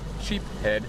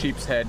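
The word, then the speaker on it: sheepshead: about the sheep's head sheep head is the right way to say it sheep's head however whatever it is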